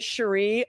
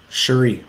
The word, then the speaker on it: Cherie: But I pronounce it Cherie only because. Cherie, my bad. Cherie Curry from The Runaways pronounced it like that.